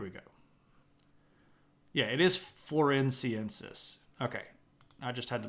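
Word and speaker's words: floresiensis: me yeah here we go yeah it is florensis okay I just had to look it up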